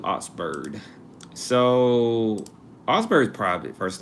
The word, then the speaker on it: Augsburg: And before I say their name wrong, if I said it wrong, I'm going to use the pronunciation tool. Yeah. Ouxburg. Also old more old soundish, but Oxburg. All right, we're gonna do Oxburg.